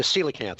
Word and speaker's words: coelacanth: The coelacanth. It's spelled really weird. It's like a PSY. COE. Oh. But COE is pronounced C.